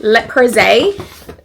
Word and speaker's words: Le Creuset: So first up, we walked into I don't know how to pronounce this. How do you say it? Le Creuset. Le Creuset.